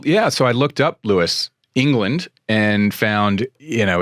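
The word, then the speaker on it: Lewes: were born in England I was is it pronounced Lewis it is very good right first time well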